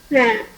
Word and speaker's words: fin: If there is inside a word any one of this group of letters, IN, AIN, AIM, EIN or EIM, any one of them inside a word, we pronounce it as an.